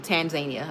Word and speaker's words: Tanzania: See, I said tar. It's supposed to be tan tan. Um yeah, see with an N. Tanzania.